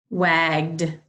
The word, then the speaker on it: wagged: Wagged. The dog wagged his tail. Wagged. Has that d sound.